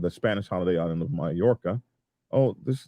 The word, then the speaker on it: Mallorca: Spanish holiday island of Mallorca oh this they spell it a whole different way here m-a-l-l and I think that gives you the yeah sound in Spanish uh but I don't